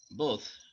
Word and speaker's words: both: both, আমেরিকানটা ধরে রাখবে, ছেড়ে দিবে, তবে একটু চেপে ধরে রাখবে, দাঁত এবং জিহ্বার আগাটার মধ্যে কিছুটা চেপে ধরে রাখবে, both। আর আর ব্রিটিশটা হলো both, খুব দ্রুত ছেড়ে দিবে সাউন্ডটা, Both.